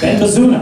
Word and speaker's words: Baza: always say it right it's Baza bazaa Ben Baza they change that